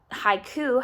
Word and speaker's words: haiku: about the word haiku so high that's one and then Kuh that's one so haiku has two syllables so I might be